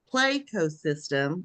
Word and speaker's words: Playcosystem: Zach is a pl Play Co system did I say that pronounce those syllables right it's a play on ecosystem so Playco system okay Playco systems yeah